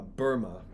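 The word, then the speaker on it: Boehme: Devil is a as Jacob uh Burma as I've discovered is how it's pronounced Jacob Burma said the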